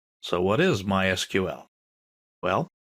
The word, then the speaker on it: MySQL: So, what is MySQL? Well, it's a version of SQL. We'll talk about that in a minute. People in the know don't say MySQL. They say MySQL. That's generally how it's pronounced.